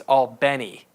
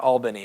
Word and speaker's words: Albany: I'm told the proper way of pronouncing, if you're from Albany, is Albany, not Albany.